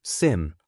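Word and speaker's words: SIEM: Daytoday, a blue teamer monitors alerts in a semium, pronounced sim, short for security information and event management software inside what's called a security operation center or SOC.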